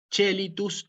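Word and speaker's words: caelitus: hay que acordarse que la c con la e la pronunciamos como che chelitus luchis lo mismo las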